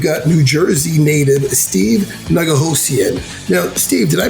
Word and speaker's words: Nigohosian: fantastic guests we've got New Jersey native Steve Naga Lucien now Steve did I pronounce that okay you most certainly did excellent